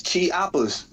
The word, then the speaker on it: Chiapas: It's Chiapas. For the rainforest where the Mayans was chilling at.